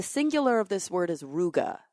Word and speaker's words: ruga: I don't do this enough I'm going to spell it so the singular of this word is ruga r u g a and the plural is